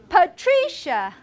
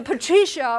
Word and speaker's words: Patricia: Abigail and Martina, Marty, Patricia. Patty. Are there other ways? Tree. Patricia is special because the stress is not on the first syllable. Where is the stress of Patricia? It's in tree.